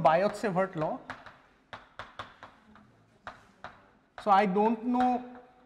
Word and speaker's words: Biot: fast so fine so there is something called biot law so I don't know the actual pronunciation he was a France France guy he